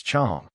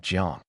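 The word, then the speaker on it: 将: First of all, the word jiang in this context should be pronounced as chong, not jiang.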